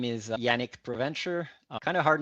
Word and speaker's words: Provencher: In the real pronunciation is Provencher, but you can say Provencher, no problem.